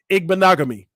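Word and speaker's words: Igbinoghene: Okay, there go Rip with the pronunciation. Igbanagani. Igbanagami.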